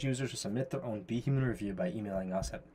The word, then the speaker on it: BHuman: pronunciations so for example be human normally You' pronounce it if you just read it phonetically boomman right but we want to pronounce it as be human so I had to